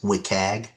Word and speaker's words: WCAG: There are several versions of these web content accessibility guidelines uh sometimes abbreviated to and pronounced as WIKAG and 2.1 is not the newest.